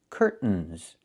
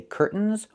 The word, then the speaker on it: curtains: It's curtains with a real T, curtains. Or I can use a stop T and say curt, stop the air, put the tongue up, curtains, and go directly to the N, curtains. So curtains or curtains. Both pronunciations are correct.